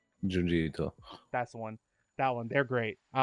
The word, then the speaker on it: Junji Ito: How you pronounce his name? Junji Ito.